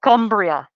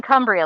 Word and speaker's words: Cumbria: oh my goodness he's from a place called cumbria it's spelled c-u-m-b-r-i-a so i was like like humber